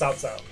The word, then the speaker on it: Cao Cao: Yeah, they pronounced it with how it was actually spelt on screen, not like what it's actually the pronounced. Chinese pronunciation of it. Because it's actually pronounced Cao Cao.